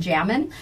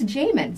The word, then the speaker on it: Jamin: But I'd always been calling him Jamin. And I go, how do you say your name? He goes, just like it's spelled. I go, I don't know. And he goes, it's Jamin.